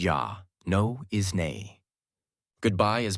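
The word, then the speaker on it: já: thank you is T yes is yah no is nay goodbye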